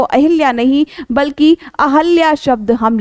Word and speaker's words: अहल्या: शुद्ध रूप से जो लिखा जाता है वो अहिल्या नहीं बल्कि अहिल्या शब्द हम लिखते हैं और उच्चारण भी हमें अहल्या ही करना चाहिए।